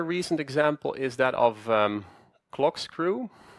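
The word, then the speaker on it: CLKSCREW: Another recent example is that of clock screw. That's spelled CLK and then just screw like in corkscrew.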